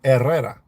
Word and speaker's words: Herrera: The H is always silent. Like Herrera is errera.